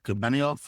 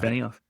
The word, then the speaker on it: Benioff: The founder of Salesforce, that's Mark Benioff. Am I pronouncing Yes, that sir. correct? Yep. Mark Uh, Benioff.